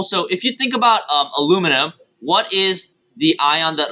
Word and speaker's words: aluminium: You go to your periodic table, and it is aluminum. Okay, and if you're Australian, it's aluminium. Oh yeah. Those crazy Aussies adding syllables.